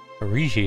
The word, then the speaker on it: Aruihi: Aruihi, that's how you say his name.